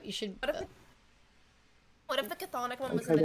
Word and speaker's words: chthonic: I cannot pronounce it. The railroad for the chthonic gods.